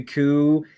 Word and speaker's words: coup: the P is silent, so we can't call it a pook.